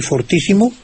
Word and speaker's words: fortísimo: otro, dice que lo prefiera usted con el acento en la primera O. Y en cuanto a fuertísimo y fortísimo, lógicamente, como usted dice fortaleza, no fortaleza.